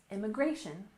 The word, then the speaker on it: immigration: we have immigration reform we stress the third syllable immigration IM migration and in reform we